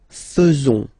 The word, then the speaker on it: faisons: So it's quite strange because French people tend to pronounce faisons. Okay? So like here, this AE is not pronounced like normally we should pronounce it like E, but then like okay? Nous faisons. Nous faisons.